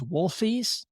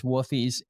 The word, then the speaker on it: Woofies: So it drives me crazy that people call woofies wolfies. Oh, like I know you and I have been known to wolf down a few dogs, but the name is woofies.